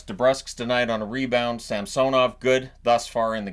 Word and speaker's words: Samsonov: a half minutes it are they going to go back to calling him samsonov because that's the right way to saying it not samsonov um and I I I